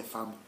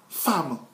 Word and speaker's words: femme: J'ai l'habitude de dire que la femme s'écrit F-E-M-M-E. Mais ça se lit femme.